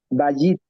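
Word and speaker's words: בַּיִת: Ba, Bajit, Bayit. Bajit, acento en la penúltima sílaba.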